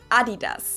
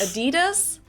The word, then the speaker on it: adidas: pronounce it adidas and in germany we say adidas yes adidas yes that is the correct pronunciation we call it adidas united kingdom so